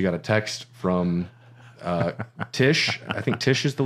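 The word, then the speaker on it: Tiche: go and I said every time I say Tish I say it like Gomez Adams right so she's there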